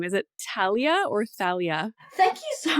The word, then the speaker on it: Thalia: like a French thing not like pronuncia the H like Talia you know so you